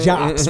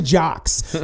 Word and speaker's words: Juxx: Like they say, like I be like, nah, it rhymes with books, crooks, looks. Ruste Juxx, Ruste Juxx.